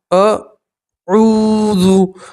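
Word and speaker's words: أعوذ: جاتا ہے۔ قل اعوذ، اعوذ، اب عین کے ساتھ واو مدہ ہے تو واو مدہ میں آپ حضرات 1 الف کے برابر کھینچ کر پڑھیں گے۔ تو واو مدہ کسے کہتے ہیں؟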